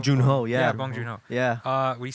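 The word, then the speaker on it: Bong Joon-ho: thing with uh I don't know how to pronounce his name the guy who directed parasite bong B junho yeah yeah bong junho yeah uh what he says once you get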